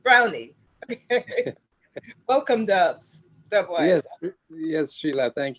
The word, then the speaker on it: Browne: name is dubwise brownie and the key is to emphasize the knee on the end of brown it because it's spelled like brown but it's actually pronounced brownie welcome dubs yes srila